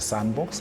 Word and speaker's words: SNDBX: And this collective is called the Sandbox, and it is spelled SNDBX.